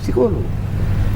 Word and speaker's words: psicólogo: cartel es harto clarito spain psicólogo la p se escribe no se dice entonces la consulta con